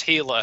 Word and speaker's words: Gila: the uh hila River you'd want to spell it h i l a and you'd think oh it's Spanish it's j IA no it's g i l a yeah the Gila River pronounced heila how the hell they